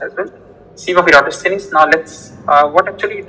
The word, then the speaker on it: Eratosthenes: Yes, this is how it's pronounced as well. Sieve of Eratosthenes.